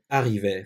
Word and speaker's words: arrivé: "Arrivés" formunu tekrar aldım. Dişil çoğul için ise sonuna "es" ekledim. "Gelenler" fiilini elde ettim . Bu dört fiil "arrivé" olarak okunur.